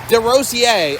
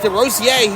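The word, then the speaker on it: DeRosier: Nathan D. Rosier. It's pronounced D. Roier, he says. Not the way I was saying it.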